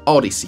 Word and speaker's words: Audeze: Audiz, como ellos quieren que lo pronuncien, Audiz MM100.